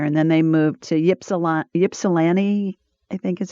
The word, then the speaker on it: Ypsilanti: So my husband Tim's family lived up there, and then they moved to Ypsilanti, I think is how you pronounce it.